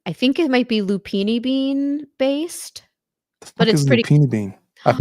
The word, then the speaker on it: lupini: L U P I N I like it sounds.